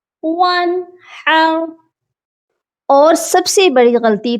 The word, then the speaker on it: وَانْحَرْ: گا، فَصَلِّ لِرَبِّکَ وَانْحَرْ، اور نون ساکن پر غنہ نہیں کرنا، یہاں پر اظہار ہوگا، وَانْحَرْ۔ اور سب سے بڑی